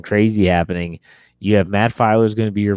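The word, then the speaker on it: Feiler: But I thought that Matt Filer.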